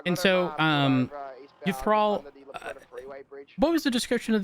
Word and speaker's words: Uthrall: Uthral.